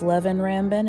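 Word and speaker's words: Leven Rambin: It is pronounced Levin Rambin, and I should have guessed that.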